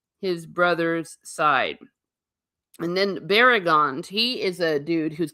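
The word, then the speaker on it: Baragund: Barragond. The emphasis on the second one, Barragond.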